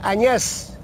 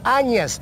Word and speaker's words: añas: Escuché a una profesora decir Añas. No, Añas, zorrillo. Claro. Añas, así, con entonación grave.